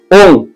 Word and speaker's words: ওম: ওম উচ্চারণটা খুব ভালোভাবে বুঝে নেবেন। ওম, ও অ ম, ওম। এই ভাগটা আপনার টোটাল যে দম, সেই দমের 70% মুখ খোলা থাকবে, 30% মুখ বন্ধ থাকবে।